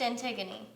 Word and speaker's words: Antigone: did you hear about the new play yeah antigone oh it's pronounced antigone oh well it's spelled antigone regardless the theater